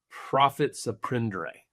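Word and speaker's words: profit à prendre: stuff here in a second, but talk about prophet send. I didn't mispronounce that, by the way. That actually is the correct pronunciation. Yes, that's not misspelled. Tell us what that means. Prophets of is simply a French phrase that means profits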